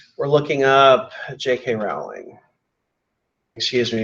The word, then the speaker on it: Rowling: we're looking up JK Rowling excuse me it looks like Rowling but it's pronounced rolling so that's what we're